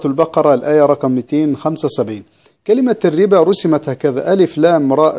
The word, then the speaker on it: الربا: الآية رقم 275، كلمة الربا رسمت هكذا، ألف لام راء باء، وبعدين في ألف صغيرة مرسومة فوق الواو، وبعدين في ألف عليه الصفر المستدير، الصفر المستدير لا ينطق لوصلا ولا وقفا، ليس له أي أهمية لكنه من رسم القرآن.